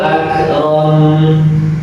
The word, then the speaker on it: akram: Iqra wa rabbukal akram. Iqra wa rabbukal akram. Pengucapan lafaz ak. Nah, ini kalau dalam tajwid ada hamznya. Ak, nah itu suara ak gitu.